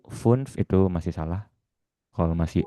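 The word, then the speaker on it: fünf: Jadi kalau misalnya angka 5 bagaimana bacanya? Ee ada i-nya di depan funf ya. Kalau yang baru belajar boleh terdengar dua huruf dulu ya. Funf. Funf. Cuman aslinya sih harusnya satu kali suara aja ya.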